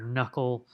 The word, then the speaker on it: knuckle: so gn having that or knuckle so a knuckle in your finger has that silent k and so these are